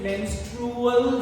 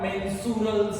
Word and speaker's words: menstrual: It is menstrual cycle and not mensural cycle.